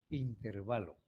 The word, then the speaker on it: intervalo: Miren, si fuera intervalo, tuviera una tilde en esta E y fuera una palabra esdrújula. No, pero es una palabra grave. Entonces se escribe así, sin tilde, intervalo.